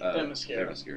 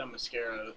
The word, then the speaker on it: Themyscira: like I said, there were so many scenes in that trailer where on their home island that I can never pronounce correctly. Themyscira.